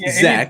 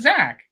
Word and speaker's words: Zach: Dude, it's Zach. That's how he pronounces. He says Zach.